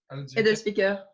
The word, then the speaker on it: Edelzwicker: The Edelzwicker, have I pronounced that correctly? Edelzwicker.